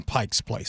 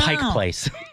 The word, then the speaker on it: Pike Place: And you listeners, I think it was 2022 when I found out that there was no S on Pike's Place. So, I wanted You serious? Yeah. On Pike Place?